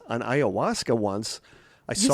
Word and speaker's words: ayahuasca: Somebody else says on ayahuasca once.